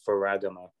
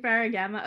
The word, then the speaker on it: Ferragamo: it out prince lou ferragamo on youtube yeah i've been pronouncing that wrong this whole time um my bad dude uh i was saying ferragama okay totally off but hey